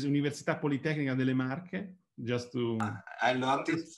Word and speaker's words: Università Politecnica delle Marche: So thanks a lot, and the pronunciation is Università Politecnica delle Marche, just to...